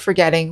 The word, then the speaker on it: forgetting: something from your mind to pronounce the word forgetting we always put the accent on the second syllable forgetfulness forget forgettable forgetful